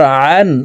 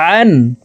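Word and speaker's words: عًا: আইন আলিফ দুই জবর আন আইন হরফকে হালুকের মধ্যখান থেকে চাপ দিয়ে উচ্চারণ করে পড়তে হবে কারণ আইনের মাখরাজ হালুকের মধ্যখান থেকে হবে আইন আলিফ দুই জবর আন গাইন আলিফ দুই জবর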